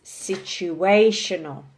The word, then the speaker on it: situational: So the emphasis here is on the third syllable, and the word is situational.